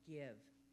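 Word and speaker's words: Gyve: Starting today, you can also use a new app on your smartphone called Give. Give is spelled G-Y-V-E.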